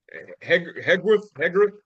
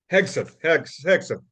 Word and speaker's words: Hegseth: Oh yeah, and then you got the Christian Zionists like what's his name Hegworth. Uh, One second, Hegseth, Pete Hegseth.